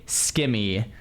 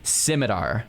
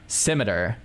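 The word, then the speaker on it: scimitar: I spent 40 hours on a myith my Okay, I say skim, but I looked up the right way to say this word and it's technically simidar. Simar, which is like ridiculous. Like, who says simar?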